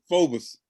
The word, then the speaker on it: Phoebus: So I just saw this boy from they wouldn't even know how to pronounce it, Rick. Exactly. Phoebus. Yeah, they would call it Phoebus.